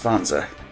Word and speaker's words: wanzer: Yes, it is pronounced wanzer. It is shorthand for wandering panzer, which is walking tank.